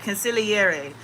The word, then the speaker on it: consigliere: I had been being called to make a video on this topic, consigliere. I did not know that was how you pronounced it before somebody told me that, I